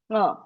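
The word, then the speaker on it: ङ: See, this nakara individually you want to pronounce, all you have to do is open your mouth fully and try to make the na sound. You should not, tongue should not touch anywhere, nowhere.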